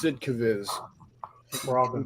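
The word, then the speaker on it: Sd.Kfz.: Division camouflage and yes that is the proper way of pronouncing sdkfv it's sidcaviz I think we're all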